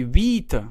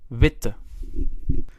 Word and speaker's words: witte: vowel consonant vowel rule if we would only write one t we would say vita we would pronounce that i in a long fashion however wit in the original adjective is pronounced short so we need to respect that pronunciation and how can we do that well by adding an extra t so we know that the first i will be pronounced short and we will say witte so now we will